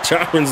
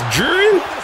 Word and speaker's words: Jiren: at AR anime names how do I pronounce it someone spell it phonetically jiren it's jiren that cannot be that